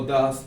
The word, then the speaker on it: does: Do not o does not. En este caso, como mencioné antes, Mariana equivale a she, por lo tanto es does not. Se escribe does, pero se pronuncia como si fuera una A.